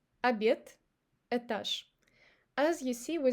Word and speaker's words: обед: And now we say друг, обед и этаж. Now before another unvoiced consonant. Ложка, водка и лавка. As you see, we don't say ложка. So we pronounce sh instead of zh because of k.